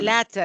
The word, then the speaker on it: latter: The latter, again, ya توجيهي, latter. Later is something else. This is the word later, which is the opposite of earlier, huh? This word is pronounced as the latter.